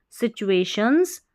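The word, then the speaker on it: situations: क्वा, QUA, क्वा, LILTYT, quality, that helps people, people overcome, overcome difficult, difficult TUA को चुए पढ़ेंगे, टूए नहीं पढ़ना, सिचुए, और ये है शंस, सिचुएशंस।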